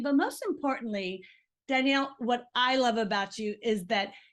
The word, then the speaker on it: Danelle: Danelle Danielle we call her Daniel do people pronounce your name Danielle or Danielle it's Danielle they a lot of people say it wrong because they pronounce it wrong because of the no I but it's Danielle well that's what I've always said and then